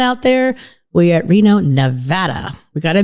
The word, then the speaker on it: Nevada: So all of you listening out there, we're at Reno, Nevada. We got to make sure we pronounce that right. It's not Nevada.